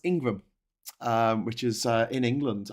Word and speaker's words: Ingram: happy happy International women's day um that's actually pronounced Ingram um which is in England I know an Ingram surname and it is i n g r